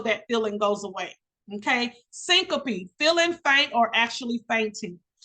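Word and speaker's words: syncope: for example the medical term for fainting is syncopy simple it's pronounced Syncopy I do need you to know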